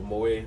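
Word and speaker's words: Moët: It's Moet. Not Moet or Mawet. Yeah, Moet. Moet. Yes. So the T is silent.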